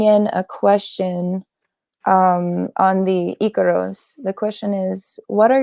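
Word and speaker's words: ícaro: When I hear somebody, even a shaman, say Icaro, I know that it has been influenced by the Western because it is pronounced Icaro.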